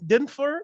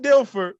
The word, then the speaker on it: Dilfer: their entire existence and those names are trent denfer dilfer i can't even say his name right